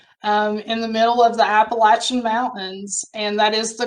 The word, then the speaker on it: Appalachian: tobacco farm actually in the middle of the appalachian mountains and that is the correct pronunciation folks in arkansas know that but grew